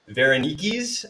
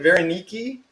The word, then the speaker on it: Varenyky: make dumplings tonight um these are called varaniki's i think is how you pronounce it veronique which is a even